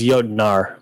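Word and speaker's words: Jötnar: I think it's Jotnar, N-A-R.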